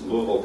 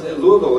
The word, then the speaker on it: Louisville: one of which is Louisville, Kentucky. Now, it looks like it's pronounced Louisville. You can die in Louisville for saying Louisville.